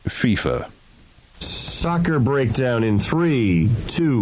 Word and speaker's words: FIFA: of international soccer's outfit FIFA uh Gary it's pronounced FIFA soccer breakdown in three two one FIFA soccer's